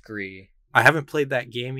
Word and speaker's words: Gris: These are the creators of, is it Gris or Gree? I think it's pronounced Gree.